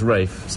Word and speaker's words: Ralph: was named after my father's step-grandfather who was Rafe about Ralph huh do people get when you're